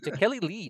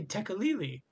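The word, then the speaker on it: Tekeli-li: Wait, how did you pronounce that? Is it Takeli Lee? That's how you use it. Okay. I assume it's like that. I would say Tekalili, but that's me.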